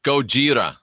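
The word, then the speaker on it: ゴジラ: Nexen and let me go over here yeah Gojira that's how it said Davy tells me telling me how to pronounce Japanese alright so here is the tsunami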